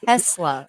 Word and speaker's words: Tesla: Yeah, you're saying Taz, like Taz, the Tesla. Tasmania Tes- devil. it's Tesla. Tezla is how it's spelled.